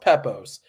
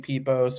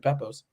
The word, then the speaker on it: Pepose: name right so uh it's pronounced pepos but I never get mad at anybody saying peos or poosy or it's an occupational hazard having a name like mine uh but yes uh